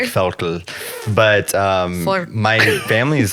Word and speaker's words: Völkel: Can I tell you what the Google pronunciation said? Oh, please. Völkel. Okay. Vocal. I kind of liked that, whatever that was. It was like Völkel or something. Yeah, it's like Völkel.